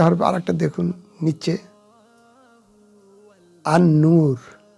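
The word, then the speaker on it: النور: আর একটা দেখুন নিচে, আন-নূর, আল নূর নয়, আন-নূর, কারণ নুনটা হলো শামসিয়া হরফ আসাতে লাম অদৃশ্য থাকলো, অস্পষ্ট থাকলো, উচ্চারিত হলো, অর্থাৎ লাম তারার সাথে তুলনা করেন।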